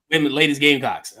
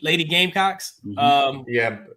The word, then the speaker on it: Lady Gamecocks: Ladies Gamecocks. Is it Ladies Gamecocks? Is that what you guys, how you say it? Lady Gamecocks. Lady Gamecocks. Emphasis on the game.